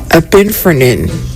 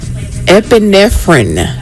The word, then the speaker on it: epinephrine: He said a pinphrine. And it is epinephrine.